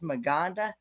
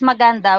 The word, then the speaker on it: maganda: which means beautiful okay I I I wondered if I was pronouncing that that right M so it is Manda yeah it is maganda which means beautiful okay